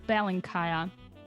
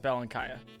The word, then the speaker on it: Belenkaya: last name okay there there are many ways of pronouncing it but i say uh bell and kaya bell and kaya okay i sent you